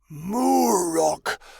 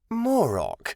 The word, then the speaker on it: Moro: "Murok? Why are you here, Murok? Why does that sound familiar?" Moro, he said, pronouncing his name more clearly so she would understand. My name is Moro. Okay, Moro, why are you here?